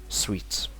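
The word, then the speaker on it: suite: And a good point that without E here, about the clothes that you might wear, is this one, suit, pronounced as suit. Add the E is sweet.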